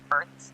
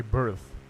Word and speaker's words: firth: But what's a berth? Did I pronounce it correctly? Almost there. It's pronounced Firth, like Earth, but with an F.